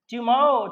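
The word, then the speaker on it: tomorrow: टुमारो, टुमारो आर का उच्चारण नहीं करिए, टुमारो, टुमारो को द नेक्स्ट डे में, टुमारो मीन्स अगला दिन, तो नेक्स्ट डे मीन्स अगले दिन होता है।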